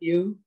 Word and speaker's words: Yueh: Yueh. Am I pronouncing your surname correctly?